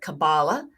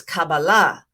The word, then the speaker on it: Kabbalah: Kabbalah some pronounce it Kabbalah but the Sephardic pronunciation and I study Sephardic Hebrew is Kabbalah well Kabbalah began actually in Genesis 1 1.